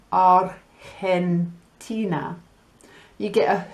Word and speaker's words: Argentina: Now, when you have G followed by the letter E, it makes a H sound, and it's the same when you have G followed by the letter I. So if we think of some países like Argentina, you get a H